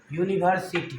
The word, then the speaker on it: university: यहीं पर हम लिखेंगे यूनिवर्सिटी, UNIVERSITY, यूनिवर्सिटी प्रोनाउंसिएशन आया यो।